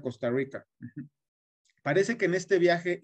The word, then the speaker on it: Costa Rica: Nótese la R, como así la pronuncian los costarricenses, Rica. De Honduras a Costa Rica.